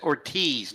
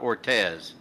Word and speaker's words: Ortiz: Yeah, it's Ortiz, not Ortez. There. Oh, it's Ortez. Ortiz. All right. Yeah, you know, like Big Papi, David Ortiz. Spelled the same way.